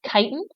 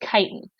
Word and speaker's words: chitin: I have here is kiten it's spelled like chitin but it's pronounced kiten kiten is to fungus